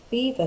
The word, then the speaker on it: Belvoir: went to a place called Belvoir Castle, although it's spelt Belvoir. Well, we went for 3 days. So we went to Belvoir Castle and we went to Nottingham Christmas markets and also to Bicester Village.